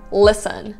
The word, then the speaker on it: listen: The fourth tip, also about the T sound, sometimes it's completely silent. For example, listen.